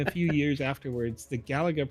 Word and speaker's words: Galaga: house to try to figure out how to pronounce Galaga and they say Galaga is the preferred reason because it's a direct